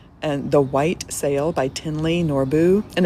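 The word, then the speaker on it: Thinley: And The White Sail by Tinley Norbu. And it looks like it's spelled like thin, like fat or skinny, thick or thin, thinly, but it's pronounced Tinley Norbu.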